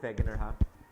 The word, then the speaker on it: Wegener: and other evidence provided by Wegener okay you pronounce that beginner are the mountains okay